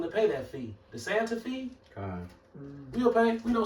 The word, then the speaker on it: Santa Fe: But then if you read it for what it says, it says Santa Fe. Just because it's an E missing off the end, don't change the pronunciation of it saying fee, just like it's an